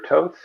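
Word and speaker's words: Toth: see it um alex top or totes rhymes with both not not with goth uh um i i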